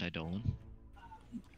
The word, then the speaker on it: Eidolon: It's pronounced Eidolon.